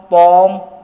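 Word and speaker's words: palm: यहाँ L silent है। ठीक है, क्या हो जाएगा? ये आमंड, कॉम, पॉम, बॉम और ये सैमन। क्या हो जाएगा? ये सैमन हो जाएगा।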